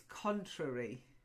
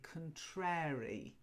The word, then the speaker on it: contrary: But it's contrary. Okay. Now, some people also say contrary. And we learn that as children with the rhyme, Mary, Mary, quite contrary, how does your garden grow?